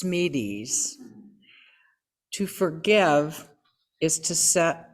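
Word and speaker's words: Smedes: today are by lewis i believe it's pronounced smeedes to forgive is to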